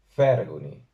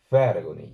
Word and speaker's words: 𐍆𐌰𐌹𐍂𐌲𐌿𐌽𐌹: la palabra siguiente porque no es una F pronunciada entre los dientes de arriba y el labio inferior, sino que se hace con los labios redondeados.